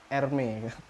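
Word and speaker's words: Hermès: meher meher Hermes itu Hermes itu bacanya ermey nah Kenapa anda tahu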